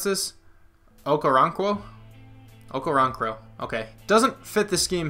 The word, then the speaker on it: Okoronkwo: Okay, so actually we have, how do you pronounce this? Okoronkwo? Okoronkwo.